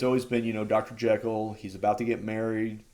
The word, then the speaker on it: Jekyll: until this point uh Jekyll has been or sorry they actually call him jico and apparently uh that's kind of how it's supposed to be pronounced but it just got